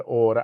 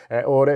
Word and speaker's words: Aura: You just download the Order app to get started.